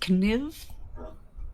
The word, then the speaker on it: Kniv: Her name is indeed pronounced Kniv. I thought it could potentially be upsetting to say it like that, but I am honoring the age-old tradition of going to Knobles. The K is pronounced, and I'm like, this will be funny.